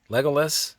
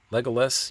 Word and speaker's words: Legolas: Legolas, if I'm saying that correctly, I believe that's the pronunciation. Legolas, you have to say it kind of fast.